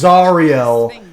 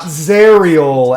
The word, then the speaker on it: Zariel: Zar right yeah and it is zarel not zerel XP to level three and I hate that argument he says like cuz every time someone corrects him he goes I'm American you would say it with a a with a sharp a like zerial and it's like that's